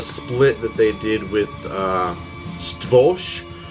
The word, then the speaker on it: Stworz: I also have a split that they did with Stworz, which is how you pronounce it, S-T-W-O-R-Z.